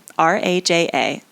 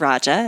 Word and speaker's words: Raja: Now, the final of the 4 paths is Raja Yoga, R-A-J-A. You can pronounce it Raja. It's more of an American or Ameriscrit way of pronouncing it as opposed to the Sanskrit way of pronouncing it, which would be Raja Yoga.